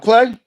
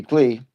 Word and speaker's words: Clay: What's up, Clay? It is Clay, right? That's how my buddy pronounces it, and it's his last name. Could be Clee, but I believe it's Clay.